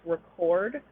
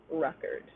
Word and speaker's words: record: before a stressed syllable so this one indicates record while this one is record the noun right like i have a record that i recorded right um and notice extra